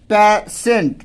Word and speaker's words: patient: IE टी के बाद, तो यहाँ भी तलाबे श का उच्चारण होता है, तो यहाँ पर हम पेशेंट श पढ़ते हैं, तलाबे श पढ़ते हैं।